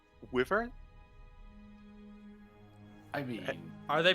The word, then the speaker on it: wyvern: They're like, "Fuck it, we're saying Wyvern." I got At least you. they're Yeah, not saying there's a- Weavern.